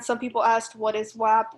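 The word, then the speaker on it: WHAP: And some people asked, what is WAP? WAP is it's spelled W-H-A-P, and it's just what people call World History AP.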